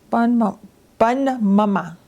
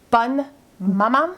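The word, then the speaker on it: Bonne Maman: How do you say this? Bun mama. Bun maman. Maman. Maman.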